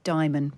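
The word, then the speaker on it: Dimon: It's Jamie Diamond, pronounced like Simon.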